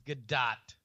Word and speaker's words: Gadot: good god but but the emphasis is on the second syllable right and it's not dough right it's definitely not dough I know that much it's good dot gal gadot you get